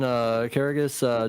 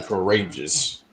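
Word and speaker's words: Karagias: Was it Evan Carragus, Norman Smiley, It's or Evan. Ernst Miller? What Wesley? It's Evan Courageous. You said his last name wrong.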